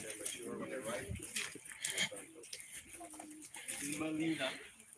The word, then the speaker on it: Gmelina: Melina, not native to Jamaica at all, but also causes all kinds of interesting medicine and does bear actual fruit. It's spelled Gmelina.